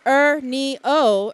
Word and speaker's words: Ernio: Pronounced Ernio, Ernio stands here before us today as a shining example of perseverance, focus, and quiet strength.